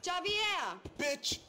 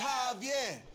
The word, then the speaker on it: Javier: no talking all gawking Javier you don't get it it's Javier it's pronounced like an H jaier yeah what you